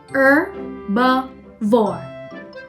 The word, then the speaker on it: herbivore: It is pronounced with a silent H. Herbivore.